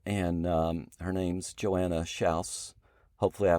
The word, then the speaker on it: Schaus: Lauren our daughter and um her name's Joanna sha hopefully I pronounced that right she'll tell you in a